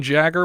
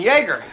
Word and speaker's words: Jagger: hero with another ed norton art carney dean jagger was slayed it's pronounced jagger but when i saw his name in the opening credits i said hey dean yeager that's what i said too which is a